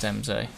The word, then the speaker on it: Embsay: It's got to be pronounced Embsay.